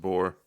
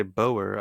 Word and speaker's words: Boer: But I think they're just pronounced boar. well, I like to say Boer. I feel fancy.